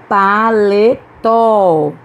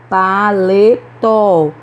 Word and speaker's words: paletó: essa palavra é oxítona paletó paletó também é oxítona armazém armazém pronunciamos com